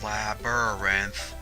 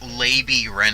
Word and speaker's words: labyrinth: if not just a labyrinth so I'm any way I'm the subject I forgot where the record was the fact that I used to pronounce labyrinth lady Wren off' i wonder if anyone